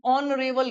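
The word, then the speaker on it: honorable: यहां पर लिखा हुआ है ऑनरेबल गेस्ट। यहां पर एच की साउंड नहीं आती है। यहां पर एच क्या रहता है? यहां पर साइलेंट होता है। यहां पर ओ की साउंड आ रही है।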